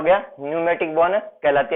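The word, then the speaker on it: pneumatic: इसकी स्पेलिंग में पी आता है, जो साइलेंट रहता है यानी क्या हो गया, न्यूमेटिक बोन कहलाती है, यानी न्यूमेटिक अस्थि इसको कहा जाता है।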